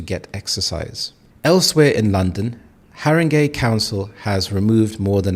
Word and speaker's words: Haringey: Here we have this word Haringey, so we have 3 syllables, Haringey.